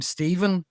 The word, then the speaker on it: Stephen: And the thing with the mh is so you know the word the name Stephen has a ph in it that that's a